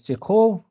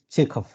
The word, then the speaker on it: Chekhov: Now, of course, some people may pronounce him as Chekhov or Chekhov. but the real name is Chekhov, Anton Chekhov, or not Anton, not Anton, but Anton Chekhov.